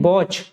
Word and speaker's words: watch: The silent letter in वॉच। अब देखो WATCH लिखा हुआ है, इसमें साइलेंट लेटर बताना है। तो इसमें जो टी होता है ना वो साइलेंट होता है, ठीक है, इसको नहीं पढ़ा जाता, तो बी ऑप्शन इसका